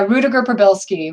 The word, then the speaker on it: Rudiger-Prybylski: So, Rudiger, pronounce the... Yeah, Rudiger-Prybylski.